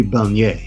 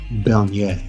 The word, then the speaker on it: Bernier: For the Canadians, it would be Bernier. Bernier.